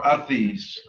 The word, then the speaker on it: vres: And you're going to add the letters VRES, which is pronounced athis, at the end, or athis.